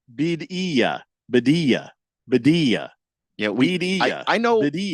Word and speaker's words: Birria: Chief Skull says, "Bidia, Bidia, Bidia." Yeah, I know. Bidia. I know how it's actually pronounced.